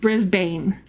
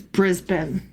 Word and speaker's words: Brisbane: And also, um the the city of of Brisbane, it's not pronounced Brisbane, even though that's how it's spelled. It's Brisbane.